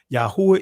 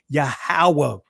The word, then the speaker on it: Yahweh: like UA or U Yahweh is less likely to be an accurate pronunciation of the tetran a more plausible reconstruction considering the Conant vowel pattern and simpler vowel insertion would be yahawa come on Family come